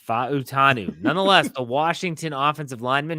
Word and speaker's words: Fautanu: Banu is the pronunciation there's four syllables Pacific island you pronounce every yes fanu nonetheless the Washington offensive